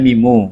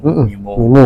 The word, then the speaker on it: Mimo: Mimo, kok bacanya Mimu. Mimo ya.